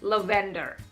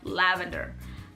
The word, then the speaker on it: lavender: i used to say lavender instead of lavender i used to say metabolism instead of metabolism you see for a